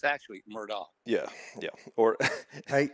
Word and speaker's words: Murdaugh: It's actually Murdaugh.